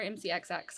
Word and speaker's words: MCXX: So, And so is it MCX or MCXX? Because I feel like. MCX. Oh, so The I last said MC. X is silent. Yeah. Like G in lasagna.